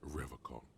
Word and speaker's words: Revocol: He pronounces Revocol with a hard K, unlike other people.